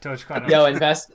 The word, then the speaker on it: Dogecoin: Oh, yeah, Dogecoin.